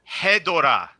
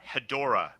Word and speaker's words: Hedorah: How do you say it? Hedorah. Perfect. Not not Hedorah.